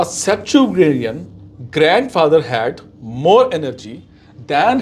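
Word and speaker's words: septuagenarian: Pronunciation क्या है? सेप्टुजेनेरियन।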